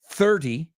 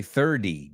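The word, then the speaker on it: thirty: I don't say 30. I say 30, D, como si fuera una D.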